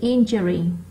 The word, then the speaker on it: injury: Còn từ injury nó lại rơi vào âm 1.